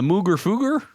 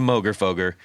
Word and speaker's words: Mooger Fooger: That would be the Mooger Fooger. Yes. Or the Moger Foger, if you are someone who says GIF instead of GIF.